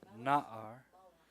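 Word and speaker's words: נַעַר: So the words Bait and Melech and Na'ar are all accented on the first syllable.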